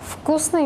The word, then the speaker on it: вкусный: Вкусный мы букву «Т» не пишем, но мы произносим. Наше проверочное слово «вкус».